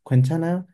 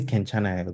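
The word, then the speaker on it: 괜찮아요: You can pronounce this Quenchanayo, Kenchanayo. Most people say Kenchanayo though. Nobody says Quenchanayo.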